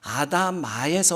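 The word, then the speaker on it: אֲדָמָה: 아담이라는 말의 뜻이 어디서, 아담이라는 단어가 어디서 왔냐면 아다마에서 왔어요.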